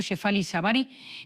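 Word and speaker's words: Shefali Tsabary: Hoy, gracias a la sabiduría de la doctora Shefali Savari, pronunciado Shefali Savari, pionera de la crianza consciente, te voy a dar tres espejos.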